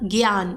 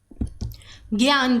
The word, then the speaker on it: ज्ञान: ज्ञा मतलब ज्ञान। देखिए, इसको कुछ लोग ना ऐसे बोलते हैं ज्ञान कह के, परंतु इसका जो सही उच्चारण है वो है ज्ञान का।